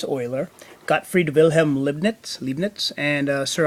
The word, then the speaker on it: Euler: You don't pronounce it Euler, it's Euler.